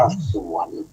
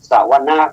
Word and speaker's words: สวนะ: หน้า ญาติ โยม ซ้อ ถ้า เป็น ภาษา ไทย เรา จะ อ่าน ว่า สวน กัน เป็น แถว เลย จริง ๆ แล้ว ให้ อ่าน มี สระ อะ พุ ตัว ว่า จะ วะนะ สวนะ แปล ว่า การ ฟัง เป็น